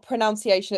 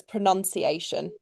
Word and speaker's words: pronunciation: Uh well, first thing it's not pronunciation, it's pronunciation. If I'm going to be really picky, it does not have an O in it.